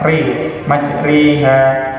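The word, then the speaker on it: مجريها: diikuti ya, bismillahi majriha termasuk bacaan imalah yang tadinya mengirimkan yang asalnya dibaca fathah dimirkan menjadi kasrah, jadi bacanya re majriha.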